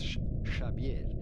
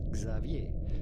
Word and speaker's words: Xavier: like history lesson pronounce Shier Shier Shier because in Basque X is pronounced like sh Shier but English speaking countries this is normally pronounced Xavier Xavier Xavier in France